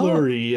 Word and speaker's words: Fleury: Flurry. That's spelled Fleury. It means flowery.